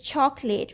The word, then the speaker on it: chocolate: will come here mountain if this is chocolate we hardly hear the oh here it's chocolate we just swallow it it is such an